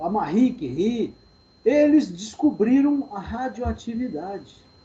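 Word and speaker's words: Curie: Rio nome francês tem esse cure aqui ó pronúncia correta aqui uma barriga que rir né que ela ficava rindo não né é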